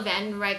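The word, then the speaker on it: Wandenreich: Okay, apparently, even though Vandenreich is spelled with a W, it still pronounces the V.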